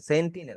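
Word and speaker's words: Sentinel: Hardware Saint line বা hard disk Saint line, hard disk Saint line, সেন্টিনেল, sorry সেন্টিনেল, আর এটার pronunciation আমার ভুল হ্যাঁ হইবই।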